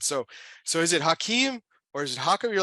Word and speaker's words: Hakim: Normally I would answer to Hakim or Hakim, and I get called both all the time.